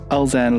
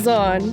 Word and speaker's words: Elzanne: Today I'm joined by the lovely Elzanne Louw. Is that correctly pronounced? Kind of. Oh, It's no? okay. What? Elzanne.